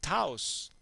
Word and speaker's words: Taos: It's your chaotic face because we are doing chaos, which rhymes with Taos.